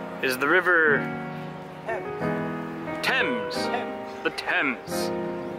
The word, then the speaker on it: Thames: The Thames. It's spelled differently than it sounds.